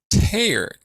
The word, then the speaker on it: Teilhard: of Gene Houston and Mr tayer t-a-y-e-r which was the way she heard him say his name and she said I